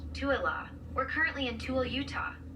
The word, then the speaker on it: Tooele: The name of the town is pronounced Tuala.